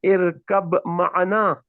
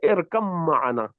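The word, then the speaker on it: اركب معنا: So you say irkab ma'ana. Irkab ma'ana. Right? But in the Indian Musaf, you will find this shadda on top of mim. So you don't pronounce the ba, you just say irkam ma'ana.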